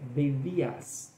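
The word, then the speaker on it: δειλία: Mas ela é deias, seria a pronúncia correta.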